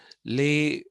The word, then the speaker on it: les: Okay, and then he also painted another one, another particular um, painting, which is called Les Monomane, L-E-S, pronounced les. The in plural is les.